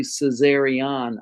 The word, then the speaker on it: Caesarion: It's actually Caesarion, ION at the end, Caesarion, but Caesarion's close enough.